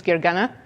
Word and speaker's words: Gergana: Joe already introduced me but my name is Gary gana and as you heard it's a difficult name to pronounce so I usually go by if